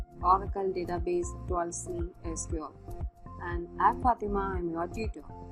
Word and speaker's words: SQL: structured query language and it can also be pronounced as sequel it's widely adapted by